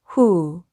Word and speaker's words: who: 여기 이 경우도 오가 우로 소리 나는 경우입니다. 그래서 한번 연결해서 읽어보면 이 단어는 who 라고 읽으시면 되겠죠.